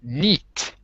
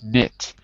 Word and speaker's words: knit: It's not neat, it's knit. And the difference is, if I were to use the chart, I could say the vowel sound is I, as in number 8, not E like number 2. So it's an 8, not a number 2.